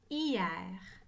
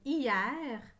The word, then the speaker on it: hier: trois fois le mot demain vérifier chaque fois hier regardez bien le mot hier prenez une photo